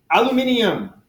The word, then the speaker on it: aluminium: typical any typical materials aluminium that's how you pronounce it if you were in British country they also spell us differently so aluminium 900 joules